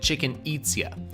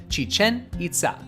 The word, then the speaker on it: Chichen Itza: Sadly, it is not pronounced like Chichen Itza. It starts off with a long chi and emphasizes the second syllables of each word, Chichen Itza.